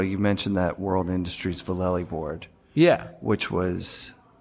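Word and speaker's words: Vallely: mentioned that World Industries vallei Board yeah which was Valle is the right way to say it that's how he says it so that's his name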